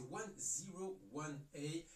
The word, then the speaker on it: 101A: Ah, voilà, donc j'étais pas très loin finalement, je disais 101A, donc c'est 101A, donc voilà la vraie prononciation. Vous l'aurez compris en français, ça fait 101 avec la lettre A juste derrière.